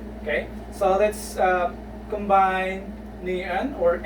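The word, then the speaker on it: 니은: Okay, so let's combine niun or N, combine that with a.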